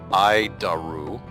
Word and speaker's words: ADIRU: So, the ADIRU system, also known as the Air Data Initial Reference Unit, we pronounce it IDARU.